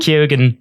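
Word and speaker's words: Keoghan: know what this is going to be Barry kyogen kyogen is which is how he pronounces it has been cast in the new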